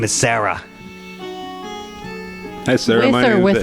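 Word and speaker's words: Hsara: The H is silent. Hello, my name is H-S-A-R-A. Sarah.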